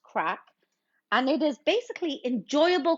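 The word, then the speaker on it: craic: morgan definition of crack spell c r a i c but pronounced crack and it is basically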